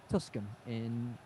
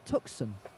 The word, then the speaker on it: Tucson: Tuscan is it Arizona? It should be pronounced Tucson.